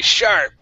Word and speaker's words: sharp: SH sound all the way. Sharp.